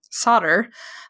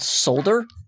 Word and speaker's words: solder: soldering iron and um solder for like under five bucks yeah and and it's spelled solder oh yeah just so you know s-o-l-d-e-r yes americans we're weird man i know solder